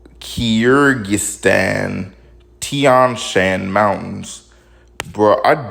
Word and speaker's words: Kyrgyzstan: This shit is spelled Kyrgyzstan, Kyrgyzstan. And number one, that's also difficult for your mouth to even move like that. Like, I don't care where you're from, that's just difficult to do.